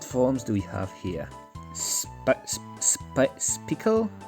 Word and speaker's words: Spickle: Spickle? It's supposed to be like spike and bicycle, so Spickle, I think it's the way you're supposed to pronounce this one.